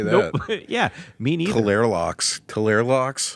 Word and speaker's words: Tleilaxu: It's spelled TLEILAXU. Nope. Nope. Can't say that. Nope. Yeah, me neither. Talerlox. It's like Talerlox. it's like Tlilaxu or something.